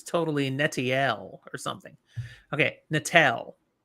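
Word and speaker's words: Natael: It's an AEL. Yeah. AL would be Natal.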